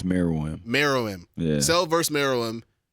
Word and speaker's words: Meruem: Miriam. Yeah. And then it said, okay, Cell versus Miriam. How do you pronounce his name? I think it's Meruem.